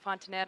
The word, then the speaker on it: Fontanet: Fontanelle, or Fontanet. help me with the pronunciation. Fontanet.